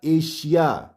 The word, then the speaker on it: Asia: ASIA एशिया, ये एशिया नहीं होगा, एशिया।